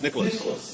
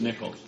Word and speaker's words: Nicholas: I said it's spelled like Nicholas, but it's Nichols, okay?